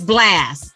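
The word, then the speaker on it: Blxst: go listen blacks blast it's blast because it's spelled different it's b l x s t you know we got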